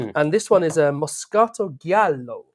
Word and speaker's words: Moscato Giallo: And this one is a Moscato Giallo, which I can pronounce like that because we've realised it is Italian, that particular word, and not trying to sort of get my head around that one.